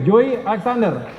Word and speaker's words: Joey Alexander: bangga kita punya Joy Apa bacanya Joy Ya Joey Alexander ya 12 tahun salah